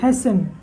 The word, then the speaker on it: hasten: उसी तरह से HASTEN, हैसन, क्या ये, हैसन है, टी क्या है, साइलेंट है।